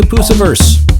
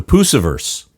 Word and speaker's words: Pusciverse: Okie dokie, let's shed our earthly skins and head into the Pusciverse with Carina Round.